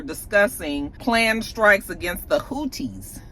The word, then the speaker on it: Houthis: They were all on this chat, and they basically were discussing planned strikes against the Houthis. Houthis? Is that how you say it? Houthis? Houthis? I think it's Houthis.